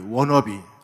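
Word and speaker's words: wanna be: 가장 강한 욕구가 의 워너비 아이 원투 2v 내가 무엇을 어떤 사람이 되고 싶다 내가 무엇을 갖고 싶다 누구를 닮고 싶다 아이 원투 를 미국 식으로 발음하면 아이 워너 비 이렇게 되니까 그렇게 해서 워너비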